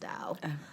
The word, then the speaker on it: Tao: dao the tau however it looks like tao but i believe it's pronounced dao yeah i think you're